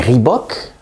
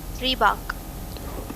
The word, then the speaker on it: Reebok: Hey, Reebok, je sais pas si je te le dis comme il faut.